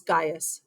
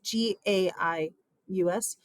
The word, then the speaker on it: Gaius: His first name is Gaius, Gaius, Gaius Julius Caesar.